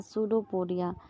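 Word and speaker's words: pseudopodia: जो होते हैं वह शुरू पुड़िया शुरू पीडिया यहां ध्यान रखिएगा यहां पर साइलेंट रहता है सुडो पुड़िया तो यह जो होता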